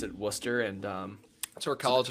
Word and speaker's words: Worcester: out to uh I think they pronounce it Worcester. It's pron it's like looks like Warchester. Worcester. Yeah. Yeah. But they pronounce it Worcester.